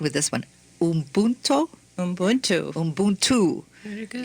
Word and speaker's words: Ubuntu: In an earlier conversation, we talked about, and you're going to have to help me with the pronunciation with this one, Ubuntu. Very good. Ubuntu.